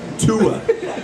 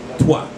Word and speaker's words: Tua: Tua. T-U-A. I have heard them say toi. Like toi. Like T-W-A. Like swa. Like the airplane.